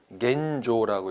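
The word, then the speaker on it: 現状: 어떻게 읽죠? 겐조라고 읽게 되는데 자, 오해하시면 안 돼요.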